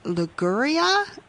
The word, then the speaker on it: Liguria: for classic recipes from Liguria. Is that how you say that? You've got it perfect.